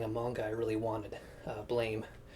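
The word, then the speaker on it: Blame!: manga I really wanted, Blame, or Blom as it may be pronounced, at a really great price.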